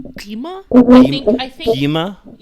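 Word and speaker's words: Gwi-Ma: I think it's one of those sounds that we don't really have in the English language. Like it's like a H and a G and a K all at the same time.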